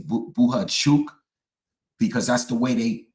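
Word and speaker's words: Bohachuk: say bhuk because I keep trying to say buha chuk because that's the way they pronounce it when they interview him and when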